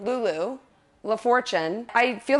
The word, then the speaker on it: LaFortune: Lulu LaFortune. I feel like when I first found you on Instagram, I thought your last name was LaFortune. Lulu LaFortune, but it's actually Lulu LaFortune.